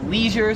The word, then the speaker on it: leisure: 20 is leisure, so me and like every American pronounces it leisure.